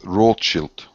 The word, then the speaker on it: Rothschild: Well, they that the name should be pronounced rochilt.